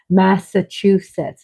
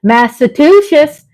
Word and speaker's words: Massachusetts: pronouncing that word wrong Massachusetts is how you pronounce it but I've been saying masusus I hope I hope